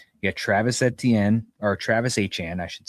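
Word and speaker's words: Etienne: You got Travisenne or Travis Han I should say now that we know how to pronounce it.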